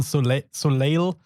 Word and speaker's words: Soleil: the name suleil or it's written so leil but you pronounce it soleil because french but yeah crusade of